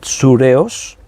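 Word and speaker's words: θυρεός: aquí en el griego es una palabra que se pronuncia así sure os te la voy a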